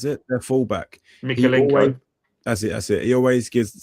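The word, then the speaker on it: Mykolenko: Is it Merkelenko? Is that how you pronounce it? Their fullback. Mikelenko.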